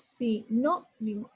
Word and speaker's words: sinónimo: Y digo, si, no, mimo. Separo en sílabas. Si, no, mimo. Entonces, ¿dónde elevo la voz? Si, no, mimo. Aquí elevo la voz, en la no.